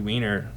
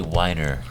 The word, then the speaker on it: Weiner: want to hear Matthew weiner talk the Jews say Wier yeah weer that's what I was telling be politically correct T-Bone it's Wier okay but it's spelled wiener